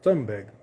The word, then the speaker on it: Thunberg: Mas e por falar em ativistas, a ativista sueca Greta Thunberg, ou Thunberg, uma pronúncia mais brasileira aí, fez um vídeo pedindo ajuda após ser detida por Israel a caminho de Gaza.